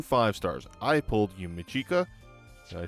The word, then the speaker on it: Yumichika: I pulled Yumichika. I pronounced his name right, and Ikaku.